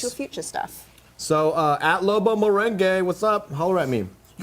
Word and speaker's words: Lobo Merengue: So at Lobo Merengue, what's up?